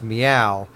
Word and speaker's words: Myau: I assume it is pronounced meow because it is a cat.